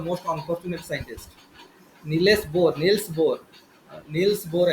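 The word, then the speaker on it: Niels Bohr: किंतु एक्सरे को एक्चुअली नीलेश बोर discover करिया कथा किंतु अनफॉर्चुनेटली करि पारलेनी तो रंटगेन पर कले हला जेति नीलेश बोर the most unfortunate scientist नीलेश बोर नील्स बोर एक्चुअली pronounce नील्स बोर ନେଲ୍ସ ବୋର୍ ଆକ୍ଚୁଆଲି କରିବା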